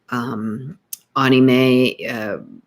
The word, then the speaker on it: anime: Anime is pronounced Ahkneemay.